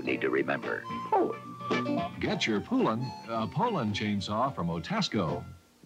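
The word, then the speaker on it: Poulan: for over 30 years people have been buying poland chainsaws would use anything but a pool in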